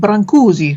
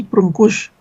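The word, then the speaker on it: brânză: all the English people I know including me pronounce it branzi because it looks Italian and when I came here and learned that it was brush um it gives me um pleasure to correct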